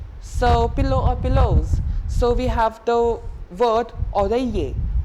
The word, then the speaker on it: oreiller: So we have the word oreiller, O-R-E-I-L-L-E-R. Oreiller, double L, not to be pronounced.